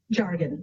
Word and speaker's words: Jargon: say your last name jargon jargon like jar I did not expect